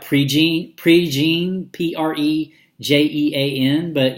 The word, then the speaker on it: Prejean: name it spelled like Prejean Prejean PRT JEA in but you know kind of southern Louisiana kind of French I guess pronunciations of a lot of